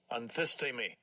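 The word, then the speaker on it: ἀνθίστημι: I want to make sure you hear it again because I've mispronounced it too many times here, is Strong's G 436, anthistemi.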